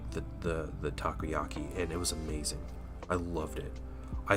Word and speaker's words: takoyaki: And then, uh, we also got takoyaki. Is it takyaki? Takiyaki? How do you What is that? Dang it. Takoyaki, I believe, is what it's pronounced.